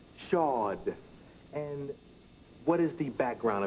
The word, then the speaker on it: Shaud: Tell me how to pronounce your name. Shaud. Shaud.